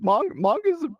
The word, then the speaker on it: manga: My wife, who speaks Japanese, says it is manga.